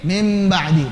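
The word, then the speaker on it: من بعد: nun sukun ketemu ba jadi mim, mim ba'di, namanya iklab. Kenapa dibaca mim ba'di? Namanya iklab. Diubah nun ketemu ba diubah jadi mim. Jadilah mim ba'di.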